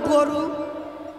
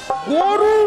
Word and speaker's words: গুরু: স্যার স্যার স্যার, আপনি হচ্ছেন আমার গরু। হ্যাঁ আপনি হচ্ছেন আমার গরু, মানে? আর আমি হচ্ছি আপনার বরযাত্র। এইগুলোই তো তোর কাছে উচ্চারণ হয় না। গরু নয়, সেটা হবে গুরু।